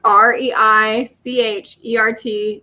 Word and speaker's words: Reichert: last name which is kind of hard to pronounce so it's re i CH e RT j 17 so it's reichert JS I'm again